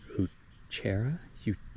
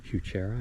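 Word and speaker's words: Heuchera: Um, this is the these are the this is the um, coral bell, also known as hutera huchera, I believe is how you pronounce it.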